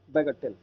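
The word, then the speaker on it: bagatelle: बैगाटेल, बैगाटेल। एक बार इसका pronunciation clear कर लो, बैगाटेली है, बैगाटेल, बैगाटेल, ठीक है, बैगाटेल।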